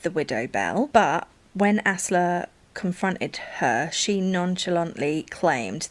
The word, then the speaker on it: Asle: So I had to Google how to pronounce that one because it's ASLE, but it's Asla.